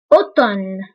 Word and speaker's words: automne: automne automne. بالنسبة للأم لا تنطق، فنقول automne automne automne automne automne.